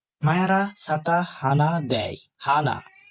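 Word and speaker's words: ふ: মায়ারা সাতা হানা দেয়, হানা। হ, হা, হি, হু। এই হুটা ফুর মতো উচ্চারণ হবে, ফু আর হু মিশ্রণ উচ্চারণ।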